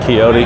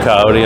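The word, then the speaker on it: Kioti: of these coyote tractors kyoto coyote i heard it pronounced a couple of different ways but this is the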